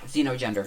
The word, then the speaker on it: xenogender: Is that xenogender? Is that how that's pronounced? See no gender, hear no gender. Xeno. Oh, like it's I would like a assume it's- xenophobe. I would think Xeno. Can you look it up for me really quick? You have to spell it for me. XENO and then gender. I got it. Yeah, xenogender. Yeah. Definitely xenogender.